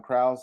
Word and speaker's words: Krause: joined with by my good friend here John Krause I pronounce the last name correct you got it